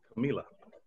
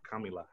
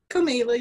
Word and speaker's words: Camila: And I will pass it to Camila. Or Camila. I hope I'm saying your name right. Camila, you said it right first.